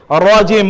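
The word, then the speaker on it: رجيم: র পোর করে, রাজিম মোটা, রাজিম।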